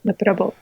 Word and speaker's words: noppera-bō: Is that am I saying that right? Yep. Noppera-bō? Noppera-bō.